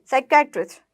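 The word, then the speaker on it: psychiatrist: वन who treats mental disease, साइकेट्रिस्ट, साइकेट्रिस्ट, ये silent होता है, ठीक है।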